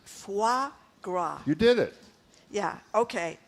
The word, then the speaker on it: foie gras: Okay, this is always a tough one for me to pronounce. Foie gras.